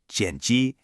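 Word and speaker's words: 剪辑: When it comes to editing a film or a video, the word is jeni, pronounced jeni.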